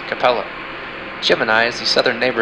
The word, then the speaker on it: Capella: and Auriga's brightest star is pronounced Capella.